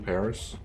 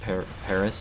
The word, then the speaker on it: Paris: It's kind of fucked up that we still call it Paris instead of Paris. Well, why do you say that actually? I don't know, like, cause like we've taken so many French words and we still pronounce them in the French way. It's very true. But Paris is just like, oh yeah, there's an S there, so I guess we gotta say it with an S.